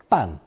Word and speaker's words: 办: It's pronounced fourth tone 半 and originally meant to expend great effort, literally doubly painful effort.